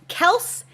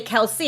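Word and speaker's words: Kelce: sounds along with uh the tight end travis kels yeah kelsey how you're supposed to say it i found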